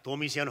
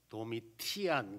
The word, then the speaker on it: 도미티아누스: 도미시안 황제랍니다. 그래서 도미시안 황제를 이제 어떤 사람은 도미티안 그래요. 도미티안이나 도미시안이나 똑같아요. 그럼 또 어떻게 발음하는가 하면 도미티아누스 이렇게 표현하기도 합니다.